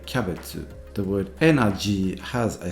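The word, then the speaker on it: キャベツ: So the word cabbage is actually pronounced kyabetsu.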